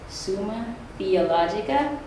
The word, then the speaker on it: Summa Theologica: His greatest work was called, and I'm going to try not to mess up this pronunciation, it's Summa Theologica.